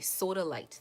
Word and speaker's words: sodalite: can go get it it's literally spelled like soda s a s o d a and light l i t e soda light that's it um l i te